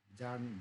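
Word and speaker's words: Bjarne: C++ का generally जो है भूल जाते हैं तो इसको याद रखिए, जार्न, बी इज the silent, जार्नेस स्ट्रॉसर, right.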